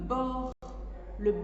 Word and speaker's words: bord: Le bord de la table par exemple, finit par une lettre muette, le D.